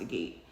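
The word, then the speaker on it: agate: Moss gate or yeah I think it's a gate it's pronounced a gate yes and this is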